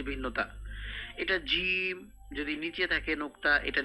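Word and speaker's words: ج: কেন নিচে বললাম এটা এটা হচ্ছে জিম শক্ত করে জিম নোক্তা না থাকলে বলতে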